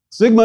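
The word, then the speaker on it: σίγμα: Sigma is equivalent to S and pronounced as the S in sing.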